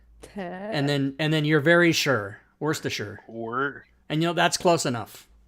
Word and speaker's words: Worcestershire: Worcestershire sauce. Yeah. So I can teach you that, Robin. So you can say the word worse, like it's worse than this, right?